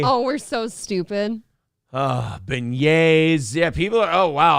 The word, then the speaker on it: beignet: west for halloween you've been yay yeah uh unc yeah jeep just calling me an uncultured swine it's french it's been yay oh we're so stupid ah beignets yeah people are oh